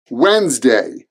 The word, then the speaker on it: Wednesday: week Wednesday Wednesday now there's a D in the middle of this word and you might be asking well Michael why is there a D in the middle of the word if we don't pronounce it I don't know but that's what we do Wednesday there are two syllables Wednesday Wednesday Wednesday next